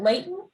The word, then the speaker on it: Layton: pleasure to be here my name is layton i'm the new fire chief for the north